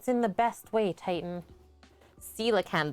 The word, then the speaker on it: coelacanth: the best way titan coelacanth that's the one like the english brain wants to say koala cans thanksgiving elements you finally